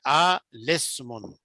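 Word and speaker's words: الاسم: ना, अल इस्मुन है, तो इसको जब लाम को लगाएंगे सीन के साथ तो बीच में से जो अलिफ है सीन और लाम के दरमियान में ये साइलेंट हो जाएगा, पढ़ने में नहीं पढ़ा जाएगा, इसको हम पढ़ेंगे आ लिस्मुन।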